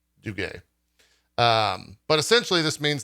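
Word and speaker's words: Duguet: uh chief financial officer frederick du gaye i guess is how you pronounce that d-u-g-u-e-t i think that's do gay um but essentially this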